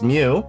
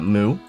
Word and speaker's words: Mu: Alf Mu because Mew like a cat. Um I know other people other parts of the world they pronounce this character as uh Moo. Um, so for now I will just accept myself as uh Alf MW because uh that's how we say it in the states.